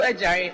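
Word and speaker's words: Adjare: My name is Ejare, and my Ejare is spelled A-D-J-A-R-E.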